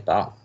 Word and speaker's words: bao: what have a nice bow ball wow he's telling you how to pronounce it b-a-o sounds like b-o-w bow not like bow on a kitty look alright it says